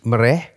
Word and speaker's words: mereh: Ejaannya M E R E mereh. Kalau la ni kata dalam bulan puasa jamuan selepas solat solat tarawih witir semua tu disebut more kan. Ha tapi hak ni adalah mereh kan.